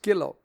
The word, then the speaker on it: Gillow: like an Undertaker's Widow that's Mrs gillow rhymes with bow very appropriate too and